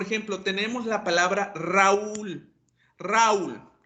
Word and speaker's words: Raúl: Entonces, eso quiere decir que Raúl necesita un acento en donde, en la U, y tengo que romper el diptongo al colocarle un acento en la vocal débil.